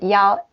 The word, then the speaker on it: 一: And the last one, yao. Yao. When it's the one, it pronounced yao.